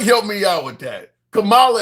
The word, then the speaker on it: Kamala: Kamala is what you guys keep calling her. Not Kamla.